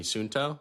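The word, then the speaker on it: Suunto: Sunsto, is that how you say it?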